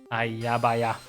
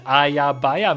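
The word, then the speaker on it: aja baja: What does Ayabaya mean? Ayabaya. They're spelled with J's, and they mean naughty, naughty, sort of. Is the closest word I can think of in English. It's Swedish, and you say it to...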